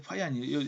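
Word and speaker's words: Fajans: 근데 파이안이 여러분 파잔이라고 발음하면 약간 촌스럽습니다. 파이안이라고 합니다.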